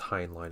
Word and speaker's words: Heinlein: I think it's Heinlein is how you pronounce his name.